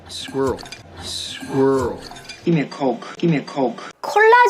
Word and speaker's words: Coke: 해외에 가서 콜라 주세요 하고 싶을 때 여러분이 발음을 잘못하면 진짜 이상한 사람 됩니다. 코크, 코크 플리즈 이러는 순간 이 사람들이 여러분을 이렇게 쳐다볼 거예요. 왜냐하면 대체되는 단어가 있어요. 이 단어로 그들이 떠오르는 단어는 COCK로 들려요.